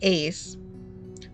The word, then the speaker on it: Ace: See, I pronounced his name wrong too. I said Ice the entire time. I think it should be Ice, by the way. That's my opinion. But it's fine. His name is actually Ace.